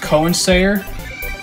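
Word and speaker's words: Koensayr: Starfighter and manufactured by I believe it's pronounced Cowan say er what guess what the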